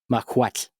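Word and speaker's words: macuahuitl: Because the na mquat is how you say it.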